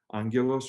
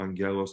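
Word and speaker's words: Angaelos: under Archbishop or Bishop Angelos, or Angelos, depending on how one pronounces it.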